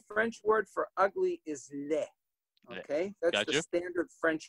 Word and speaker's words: laid: The French word for ugly is laid. Okay, that's the standard French word, except that French Canadians and Franco-Americans in some regions, they pronounce it la.